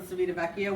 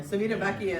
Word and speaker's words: Civitavecchia: It's leaving from Civitavecchia, which is why we're all gonna take that,